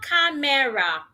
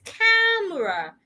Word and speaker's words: camera: It is not camera. It's camera.